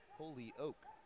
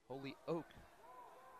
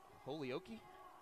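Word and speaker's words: Holyoke: I have to apologize it's pronounced Holy Oak Holy Oak Colorado it's where Kate kellan's from what did you originally say I think I said it hokei hokei yeah that's exactly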